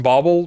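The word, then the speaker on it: bauble: just getting the kill with the rap assassin bobble bobble that's how you pronounce it people across the pond call it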